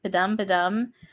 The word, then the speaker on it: Padam: Is it Padum? Padam.